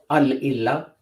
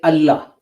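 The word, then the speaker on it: الله: So illa starts with a hamza. So you wouldn't pronounce, if you combine al with that to make the chief god, the big guy, you wouldn't pronounce the combination as al-illa. You wouldn't pronounce the whole thing as Allah, but as al-illah. Sorry, I nearly said it the other way around. But we don't. We don't say al-illah, we say Allah.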